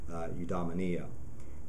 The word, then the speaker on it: eudaimonia: and is very closely related to rha it's pronounced eudaimonia and in a sense it is sort of